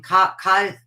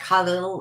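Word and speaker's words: Kahlil: And I went and bought every book by, I mispronounce his name, Cahill Gibran, I call him, but his name is pronounced like Khalil or something.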